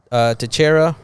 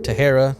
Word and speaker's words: Teixeira: We got Teixeira or Tejera. No, Teixeira. Texiera. Well, you say Teixeira. Oh, that's how it's pronounced.